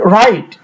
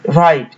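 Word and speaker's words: write: টা উচ্চারিত হবে না উদাহরণস্বরূপ দেখে নিচ্ছি যে রাইট ডব্লিউ আর আই টি ই রাইট এখানে ডাব্লিউ এর পরে আর আছে যার ফলে আর উচ্চারিত হচ্ছে কিন্তু ডাব্লিউ এই লেটারটি উচ্চারিত হচ্ছে না একইভাবে রিস্ট এবং রং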